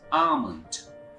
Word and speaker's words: almond: is almond sometimes are some of us we pronounce this word like almond here long sound is very silent so it sounds almond our next word is aunt Anna are you